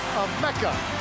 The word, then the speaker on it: Emeka: I would bet his first name is pronounced Emeka.